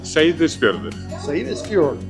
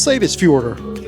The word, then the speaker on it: Seyðisfjörður: Soon as we got ashore, I found somebody to pronounce it. Welcome into Lislands. And uh the name of this city is Sis Fjord. Welcome to Iceland. That's Sis Fjorder.